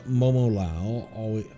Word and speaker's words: Momolao: My friend Momolao, because I think it's supposed to be 4 syllables always.